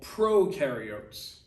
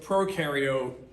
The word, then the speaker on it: prokaryote: is that whole eukaryote prokaryote uh definition okay u rhymes with dew they do have a nucleus that's this blue thing okay pro rhymes with no this is how you're